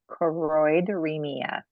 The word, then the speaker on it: choroideremia: Quarteremic? You're I don't want so to get it wrong. close. It's 5 syllables. Choroideremia.